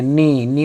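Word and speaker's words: knee: अपने स्वामी के घुटने नी नी मतलब घुटना के साइलेंस है ना के का उच्चारण नहीं करते हैं तो मालिक के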